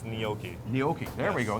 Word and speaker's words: gnocchi: Well, Am I pronouncing it correctly? it's gnocchi.